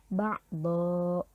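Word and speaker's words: بعدا: Harusnya kan kalau di sini ba'don ya, tetapi ketika kita berhenti di kalimat ba'don, maka membacanya tidak ba'don lagi, tetapi dibaca ba'dho, panjang 2 harokat, dibaca fathah dan panjang 2 harokat.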